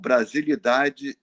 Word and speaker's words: Brasilidade: When I heard the group called Brasilidade Geral. Brasilidade Geral. Brasilidade, maybe we should spell that, you know. It's like Brazil with the S, BRASILIDADE, Geral, GERAL, Brasilidade Geral.